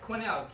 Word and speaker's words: quenelle: Quenelle, Q-U-E-N-E-L-L-E-S. It's a French word, so of course there's a silent alphabet at the end.